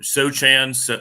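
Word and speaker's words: Sochan: Sohan.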